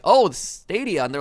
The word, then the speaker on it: Stadia: Those were kind of the two code words, and then it was like, oh, Stadia, and they're like, congratulations, you pronounced it right.